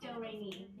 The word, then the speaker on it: Do-Re-Mi: It's spelled like notes and pronounced Do-Re-Mi.